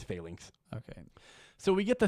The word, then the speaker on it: phalanx: the answer of the, apparently it's called phalanx is how I've been hearing people pronounce it now, audibly, because I've been saying phalanx. Apparently it's phalanx.